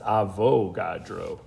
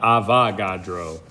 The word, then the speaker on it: Avogadro: spelled his name wrong i think it's avogadro yes indeed pardon me that's avo not avagadro my apologies but avogadro definitely